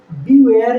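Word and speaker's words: beware: बीवेयर है, इसमें ई का उच्चारण नहीं है, बिल्कुल आर तक ही उच्चारण है, तो हम लिखते तो है लेकिन उच्चारण नहीं होता।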